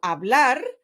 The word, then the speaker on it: hablar: to be pronounced so in the word for example hablar the stress falls on the last syllable which is blar so and that's gonna